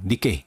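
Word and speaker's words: 日経: 그래서 상위 225개의 주식의 가중 평균 값을 지수로 만든 거 그거를 니225라고 하는데 1경을 아 일본어로 읽으면 저게 니게이라고 읽힌대요. 그래서 1경 니케이 그래 니케25 105 니케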